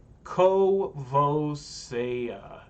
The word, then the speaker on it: Courvoisier: Caboose Courvoisier is how you pronounce that cognac.